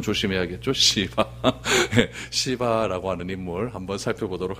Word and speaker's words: 시바: 들었으면 좋겠습니다 첫 번째 우리 시바라고 하는 인물 발음을 좀 조심해야겠죠 시바 시바라고 하는 인물 한번 살펴보도록 하겠습니다 1절 2절